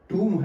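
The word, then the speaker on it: tomb: शाहजहां का कब्र है तो वो तुम है तुम है तू टॉम नहीं बोलेंगे ठीक है कमिंग तू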